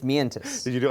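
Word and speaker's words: Mientus: was in carry off sounds like metis but it's it's metis did you do it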